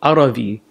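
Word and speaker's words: Arvi: the companions came up it's called aravi a-r-v-i okay because Tamil people couldn't pronounce Arabi they kept saying because they didn't have a bat yeah right and that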